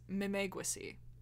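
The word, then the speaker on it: Memegwesi: the uh no so i found the pronunciation website so that told me it's mimegusy which was said to inhabit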